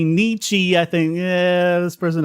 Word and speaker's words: Nietzsche: this is a peeve of mine please it's Nietzsche not Nietzsche Niche sorry that's how you pronounce it Nietzsche sounds like baby talk oh